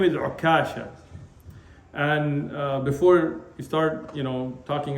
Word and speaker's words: Ukasha: And before we start, talking about the mispronunciation here, it's actually come both with the shadda on the kaf and without the shadda. So you could say Ukasha or Ukasha.